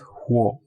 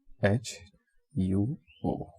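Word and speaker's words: 火: pinyin, and it is written as huo, H-U-O, huo, with the third tone, and this is the character for fire.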